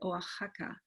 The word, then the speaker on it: Oaxaca: reading them out and notice by the way how we should read that x contain for example in this name as a day so we would say oaxaca and when we read